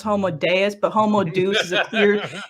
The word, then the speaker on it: Homo Deus: much but he has a trash book called homo deuce and i know it's pronounced homo deus but homo deuce is appeared it's a clear